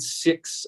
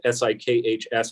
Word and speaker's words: Sikhs: One of the most impressive kiosks at the border this morning was United Sikhs of the World, S-I-K-H-S, pronounced Sikh, not Sikh, but they are people with the turbans, you're probably familiar.